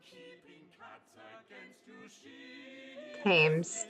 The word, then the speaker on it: Thames: If Mary sees you keeping cats against you, she Thames, the H is silent.